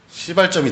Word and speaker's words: 시발점: 이게 1차 인도 차이나 반도 전쟁의 시발점이 됩니다. 2차 세계 시발점이 되는 거죠. 요건 안 돼요. 야, 시발점. 발음 조심하세요.